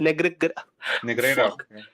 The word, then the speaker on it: Negreira: How do you pronounce it? Negreira.